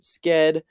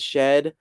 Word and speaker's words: Sched: Some people pronounce it sked, some people pronounce it shed. Make your own choice how you're going to pronounce it.